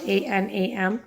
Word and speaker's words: Anam: My name is Anam. It's spelled A-N-A-M, Anam.